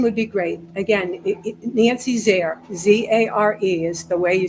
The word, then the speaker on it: Zare: The last name rhymes with care. It starts with a Z for zestful, Zare.